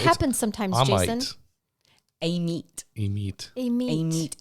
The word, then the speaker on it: Amite: A meat.